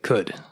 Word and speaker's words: Qud: Yeah, I think I may have been saying it wrong before, but later I verified the devs do say could.